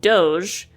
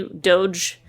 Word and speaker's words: Doge: up other coins like Doge my notes say it's pronounced Doge not dog or doggy as I've heard some people say if you're mad about